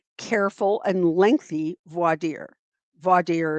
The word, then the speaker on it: voir dire: Voir dire is they pronounce it 100 different ways. I I learned to pronounce it voir dire. Um some say voir dire, especially in the South.